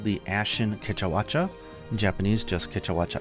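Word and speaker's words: Kecha Wacha: which is Keta watcha in Japanese it's the same it's Keta watcha and its nickname is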